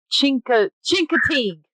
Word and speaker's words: Chincoteague: That's not how you say that, Bree. You idiot. Hold on a second. Chincoteague. I'm saying it wrong.